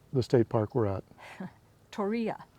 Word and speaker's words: Torreya: So I have to ask you to pronounce the state park we're at. Torreya. Torreya.